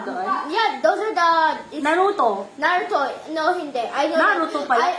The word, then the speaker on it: Naruto: Piece lang tawag doon Yeah those are the Naruto Naruto no hindi I know Naruto pala Naruto pala yung pagpronounce non hindi pala nar Naruto how how